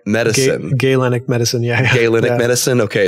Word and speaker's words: Galenic: Galenic medicine, yeah.